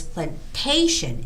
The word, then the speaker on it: plantation: remember that, and plantation, as always, when the word ends with T-I-O-N, the stress goes in front of that syllable, which is plantation in this case, plantation.